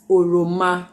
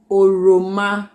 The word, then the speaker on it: ọrịọmọ: have some fruits that we're going to be pronouncing with Obi, and the first one is ọrịọmọ. ọrịọmọ. That's orange. Yeah, that's ọrịọmọ.